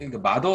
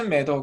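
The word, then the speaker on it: Mather: 있습니다 커트 메 더 버거 마더 라고 발음하면 안된데요 매 더 라고 발음해야 된다 호튼 매다가 있는데 그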